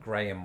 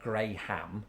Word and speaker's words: Graham: are some people called graham watching because it's most decidedly in my pronunciation graham not gray ham graham graham or one